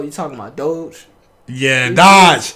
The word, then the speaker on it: Doge: talking about doge yeah dodge it's not so it's not dodge no you saw it the dog d-o-d-g-e yeah how you say it doge see now that's no